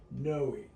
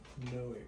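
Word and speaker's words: Noe: Noi, but it's spelled differently. It's the thing you got to remember. There is an E. Yeah. But it's No. O N O E.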